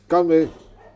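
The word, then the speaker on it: 干杯: Ganbei. Ganbei.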